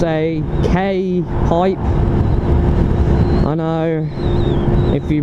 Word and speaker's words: K-Pipe: an it's a k like k for kilo okay dash pipe not a gay pipe right it's not an it's a k-pipe right and sorry my